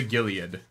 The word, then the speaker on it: Gilead: And so they go to Gilead.